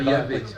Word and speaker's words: Yahvé: Normalement, on ne prononce pas. On va dire Yahvé.